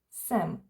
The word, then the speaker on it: jsem: Не читається буква й в словах см, si, сме і сте і со буква й не читається.